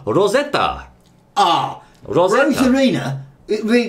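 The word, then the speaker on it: ロゼッタ: for example over there over there she's called Rosetta ah Ros Arena it really doesn't work does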